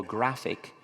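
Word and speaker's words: GraphIQ: It can also plot natively, and we have constructed a system that we call Graphic, but it's spelled Graph IQ, which actually reasons.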